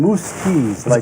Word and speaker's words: Muzquiz: here's how you pronounce his name, Muzquiz.